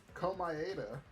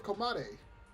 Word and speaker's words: Komaeda: Komaeda? Have I been saying his name wrong this whole time? I thought it was Komade.